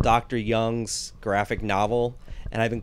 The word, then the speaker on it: Jung: it, and I go, am I saying this guy's name wrong? And she finally goes, yeah, it's actually Jung, but you know, I just didn't want to make you feel like shit.